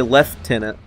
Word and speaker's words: lieutenant: I forgot that the Brits say left tenant.